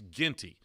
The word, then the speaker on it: Ginty: I'm sorry, it's Ginty. See, I've been mispronouncing your name, and then I ran into Beth at the Partner Summit, and she's calling you Ginty.